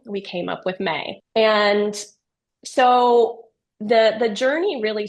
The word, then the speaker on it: Mae: May, in fact, it's spelled MAE, is an acronym for Memory Assistant Experience.